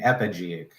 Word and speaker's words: epigeic: along with the soil layers and those are pronounced anisic endogenic and epigeic and then here are the details about epigenetic